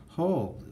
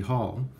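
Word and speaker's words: Holl: and we did get Justin whole I guess the pronunciation would be hall and so we did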